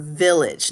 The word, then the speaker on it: village: And then the second syllable is not age, it's idge.